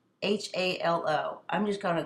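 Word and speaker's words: phthalo: I'm going to say middle Halo blue you'll you can see how it's spelled it's p HT h a l o I'm just going to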